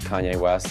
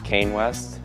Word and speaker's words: Kanye West: Hetrick pronounced Kanye West as Kane West.